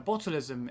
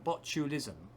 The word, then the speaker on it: botulism: or can cause botulism now botalism is a botulism i should say is the best pronunciation uh is is an